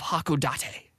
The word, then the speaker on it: Hakodate: the scene we are in the town of hakodate right correct correctly pronounced uh it's very hilly and this guy